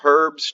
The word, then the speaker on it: herb: we have the nine herbs charm and i like to pronounce the word herb with an h as you brits do the first mersburg charm